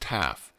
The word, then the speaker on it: tau: The last letter, tau, pronounced taf, has a numerical value of 400.